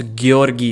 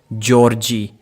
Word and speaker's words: Georgi: for the first time how difficult is to pronounce gorgi gorgi instead of Georgie I think there's a huge difference between these two words and yet no one